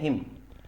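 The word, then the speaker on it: hymn: हिम क्या बोलते हैं हिम देखिए थोड़ा सा ध्यान देने वाली बात है मैं उसका जो एन होता है वह लास्ट वाला साइलेंट रहता है तो ये साइलेंट रहेगा इसलिए क्या बोला जाएगा हैं बोला जाएगा हिम का मतलब होता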